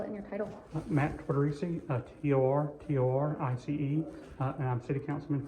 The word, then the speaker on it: Tortorice: To start, go ahead, for the record, give me your name, how to spell it, and your title. Matt Tortorice, T-O-R-T-O-R-I-C-E, and I'm City Councilman for District 4.